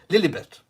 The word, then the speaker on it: Lilibet: her full name is lily bett lilly bit is how you would pronounce it in the uk lilibert uh little bit